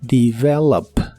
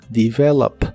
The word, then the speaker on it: develop: de inglés es develop la primera e se pronuncia como I develop develop en el presente lo